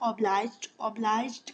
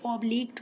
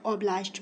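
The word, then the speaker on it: obliged: No advocate, कोई वकील, इज़ है ऑब्लाइज्ड का मतलब है पाबंद, कुछ लोग इसे ऑब्लिग्ड पढ़ते हैं, ठीक है, तो जो आपकी प्रोनाउंसिएशन है आप उसके मुताबिक इसको पढ़ लें, मैं ऑब्लाइज्ड पढ़ती हूँ।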